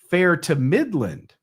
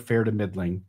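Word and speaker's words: fair to middling: this in the UK Fair to Midland derived as either an accidental or deliberate mispronunciation of fair to midling and fair to midling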